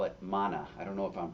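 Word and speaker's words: māna: When the Buddhists talk about pride, they call it mana. I don't know if I'm pronouncing that correctly, but it's m a with a line over the first a na. Mana.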